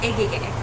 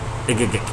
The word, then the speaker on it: Egegik: Egegik. Egegik. Yes. It's kind of like Egegik. Yes. It's Okay. pronounced like eyes, but it's spelled with E's. Okay. It's pronounced like eyes, but with E's. Okay. Egegik.